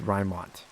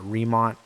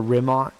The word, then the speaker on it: Rymont: And yes, it's pronounced Rymont, not Remont. I know most people that see the name think Remont, which if you say it, or Rimont, if you say it like that, then it's fine. I don't necessarily care, but the way I pronounce it is Rymont.